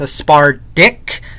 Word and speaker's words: aspartic: is aspartic acid so the way I pronounce ASP our dick is you really stress the D in aspartic acid so that's why I